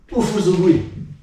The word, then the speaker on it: Ufusugui: So the Uchinaguchi pronunciation for it is Ufu.